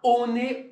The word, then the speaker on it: One One: c'est ça au cas on est on est et oui c'est comme ça que le maori prononce il dit on est en anglais si tu